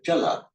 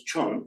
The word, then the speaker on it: jala: So jala comes out as chon in Thai.